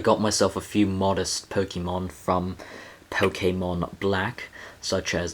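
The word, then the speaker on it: Pokémon: It's actually pronounced Pokemon, I think. Uh cuz you know that the accent E. So, uh I'm going to try to see if I can, you know, I'm going to try to see if I can pronounce it Pokemon cuz I believe that's actually how it's supposed to be pronounced.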